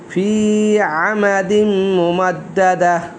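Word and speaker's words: فِي عَمَدٍ مُمَدَّدَةٍ: ফি আমাদিম, ফি আমাদিম, এখানে মিমের উপর তাসদিদ, গুণনা করতে হবে। ফি আমাদিম মুমা, দালের উপর তাসদিদ, ডাবল উচ্চারণ, মুমা দাদা, তার 2-3, এখন যেহেতু আয় শেষ গোলটা, তাহলে অক্ষ করলে গোলটা হা হয়ে যাবে। ফি আমাদিম মুমাদ্দাদা। এই ছিল আজকে আমার প্রথম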